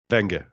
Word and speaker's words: Wenger: So am I pronouncing it right? Wenger? Wenger.